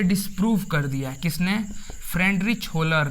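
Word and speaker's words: Wöhler: Friedrich होलर ने। थोड़ा spelling देखिएगा, लेकिन इसका नेम देखिए, इसको फ्रेडनिच होलर, WOHLER, फ्रेडनिच होलर।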